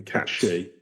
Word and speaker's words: Cait Sith: Anyway, we're allegedly going to be talking about pronounce this bloody thing, a cat she. I don't want Gaelic Twitter after me. Like she-cat.